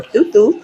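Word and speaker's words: Thoth: Okay, or Thutu, because that's how you really say his name.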